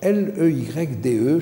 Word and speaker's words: Leyde: Parce qu'il est dans la ville de Leyde, je crois, alors, je ne sais pas si on prononce comme ça, certainement pas, mais aux Pays-Bas. Alors, L-E-Y-D-E, je ne sais pas comment ça se dit, vous allez me le dire.